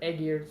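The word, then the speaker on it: Ægir: There's Aegir's Cauldron Brewing, or Aegir's, that's how it's actually pronounced in Old Norse.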